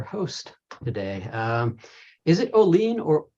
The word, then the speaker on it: Oline: today um is it Olene or Olin it's always like calling without a c got it I've seen